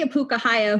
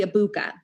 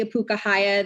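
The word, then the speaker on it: ʻŌpūkahaʻia: And Henry Apukahaya, who they don't pronounce his name correctly, can't pronounce his name correctly, that's a whole other argument, call him Henry Abuka.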